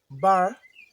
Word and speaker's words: barre: So the spelling is B A R R E but the pronunciation is B A R like a bar.